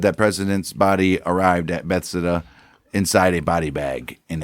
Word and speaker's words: Bethesda: He supported another part of Dave Lipton's theory that somewhere between Parkland and Bethesda, Bethesda, but whatever. I've only told you how it fucking is pronounced 7 times now.